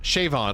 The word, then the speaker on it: Siobhan: Siobhan? Siobhan? Like Cinnabon? Siobhan? Shrimp Creole? You said it wrong. Okay. Well, thank you, Jujubee girl. Nope. Okay. Siobhan? Shavon. Oh my god. What part of Siobhan is supposed to be Shavon?